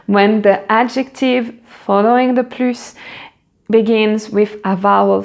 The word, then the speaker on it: plus: And if it's negative, the final S is silent. If it is positive, the final S is pronounced.